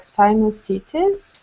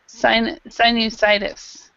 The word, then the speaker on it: sinusitis: It's like sinusitis. I don't know. Yeah, okay. And in English, we say it actually very similar. It's just sinusitis.